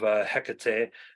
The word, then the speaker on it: Hecate: I go off of the Buffy pronunciation of Hecate, and so we see